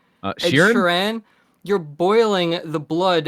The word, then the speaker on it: Sheeran: I also got to see a Sharan in the same concert. Sorry, what did you How did you just pronounce that? Sharan, I'm I know it's not how you say it, but Sharon.